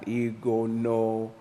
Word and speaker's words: Igono: You gotta say it like that, okay? You can't just like it says the name I pronounced is, and then Pastor, breaks it down. Igono.